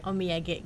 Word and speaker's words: Omiyage: Omiage. Omiyage grup. Beda ya pelafalannya.